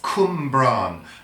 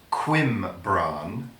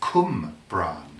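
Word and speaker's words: Cwmbran: B R a n that's come Bron not Quinn Bron as some people might think it's come bran corn bran because W in Welsh is phonetically double o Cumbre whoa whoa and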